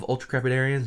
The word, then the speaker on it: ultracrepidarian: You know the other type of ultracrepidarians?